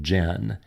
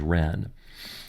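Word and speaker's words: 仁: Gil system of transliteration it's spelled with a J I know that looks like Jen but it's pronounced as Ren as I mentioned it's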